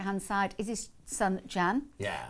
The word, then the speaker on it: Can: side is his son Jan yeah that in Turkish pronounced can C an he's called Jan and then next to